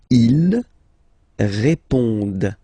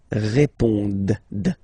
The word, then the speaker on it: répondent: Ils répondent. So same thing here, classic ending, ENT, but then you don't pronounce it. Okay? Répondent. Répondent. Ils répondent.